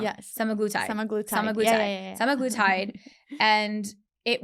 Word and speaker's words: semaglutide: And I went on semaglutide. I'm saying it wrong. Yes. Semaglutide.